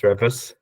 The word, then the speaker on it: R3V4S: I think it's supposed to be pronounced Revis.